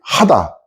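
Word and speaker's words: חדה: 여기서 사용된 히브리어 원어가 이 하다, 히브리어 원어의 기뻐하고 즐거워하다가 하다예요. 하다 이렇게 되는데 우리말에 뭐뭐뭐 하다 하고 발음이 똑같죠?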